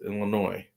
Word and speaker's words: Illinois: Well, it's Illinois. I say Illinois. There's an S at the end. Illinois, Illinois. What? I don't know any word that has a silent S.